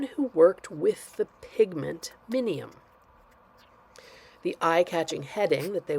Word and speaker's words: minium: It's amazing how you want to pronounce that when it's actually pronounced minium, also known as red lead.